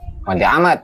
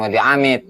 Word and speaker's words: Wadi Ahmad: Wadi Ahmad, bukan Wadi Amid.